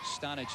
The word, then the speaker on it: Stanich: French call him Stanich or Stanich. Stanich is the way the family prefers the last name be pronounced.